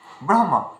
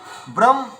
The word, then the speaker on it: ব্রহ্ম: এদিক ওদিক হয়ে যাচ্ছে তো তেমনটি ব্রহ্ম উচ্চারণ করার সময় অনেকে আমরা বলি ব্রহ আর অনেকে বলছি কি ব্রম ব্রহম তো আমাদেরকে এটা বাস্তবে কি আছে ব্রহম মানে হ এর উচ্চারণ আগে হবে ম এর উচ্চারণ পরে হবে ম এর উচ্চারণ আগে করা কিন্তু এটা ভুল হবে আচ্ছা চলুন তো তাহলে